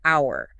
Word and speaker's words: hour: And this includes words where the first letter is silent, but the sound is a vowel. Yes. Like our silent h starts with an sound. So an hour.